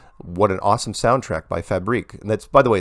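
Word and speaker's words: Fabrik: This one's called Nice Music Track by Fabric or Fabrique. Also have a question. Hi, Mark. I just want to compliment you on your new video, Flat Earth License Plate. What an awesome soundtrack by Fabrique.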